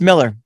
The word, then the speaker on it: Millar: Is it Miller or Millar? No, it's Miller. It is actually Miller.